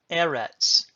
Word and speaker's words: Eretz: Segolate nouns are two-syllable Hebrew nouns that have their accent on the first syllable. For instance, you already know from your vocabulary Eretz in Chapter 1.